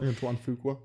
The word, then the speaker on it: Antoine Fuqua: I was blown away by the fact that Antoine Fuqua, is that how you pronounce his name? Yeah. Okay, so Antoine Fuqua.